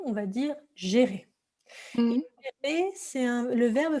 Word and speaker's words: gérer: Alors effectivement, d'habitude, le G en français, on va dire gué, mais là, si vous voulez, avec un E ici comme ceci, ça va se prononcer G.